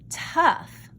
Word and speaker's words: tough: the short e sound this word looks like tug i don't know i don't know why it's spelled that way but it is this word is actually tough uh uh it has the short u sound because it sounds like